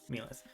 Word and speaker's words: Mth: I forgot how pronounce meth MTH like helth but with an M right yes which was